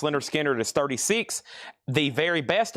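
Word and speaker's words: Lynyrd Skynyrd: Leonard Skinner, pronounced Leonard Skinner is 36.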